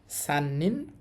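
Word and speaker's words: 三: দিয়ে তিন বুঝায় আর এটার উচ্চারণ হবে মি এবং সান দুইটাই হতে পারে কেমন আপনার দুইটাই মুখস্ত করতে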